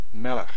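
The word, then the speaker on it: מֶלֶךְ: Melech, melech means king. Stress on the first one, two segols, definitely a segolate.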